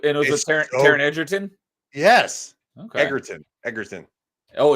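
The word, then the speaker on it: Egerton: Yeah, it's as far as I understand it's a hard G. Oh, I thought it was Edertton, but it's Eggertton.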